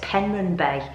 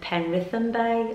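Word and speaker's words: Penrhyn Bay: at pronouncing the places but it's penryn bay that's what it's called i think i was calling it pen rhythm bae or something like that but i was pronouncing it wrong anyway and i do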